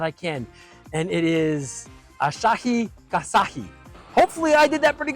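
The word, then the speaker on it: Asahi Kasei: best shot that I can, and it is Asahi Kasahi.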